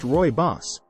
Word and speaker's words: Rooibos: Rooibos Tea, pronounced Rooibos, a true South African delight.